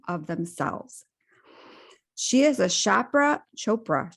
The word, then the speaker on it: Chopra: the healthiest version of themselves she is a chapra Chopra Chopra right how do I pronounce Chopra certified meditation teacher and a certified